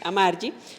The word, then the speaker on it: Amargi: Con el sello editorial independiente proyecto Amargi, se pronuncia Amari, su búsqueda es amplificar la voz de las mujeres y nombrar lo innombrable.